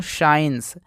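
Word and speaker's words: science: s है तो इस सी को यहां पर साइलेंट मानते हैं तो इसको पढ़ते हैं दोस्तों साइंस और साइंस का मतलब होता है विज्ञान देखिए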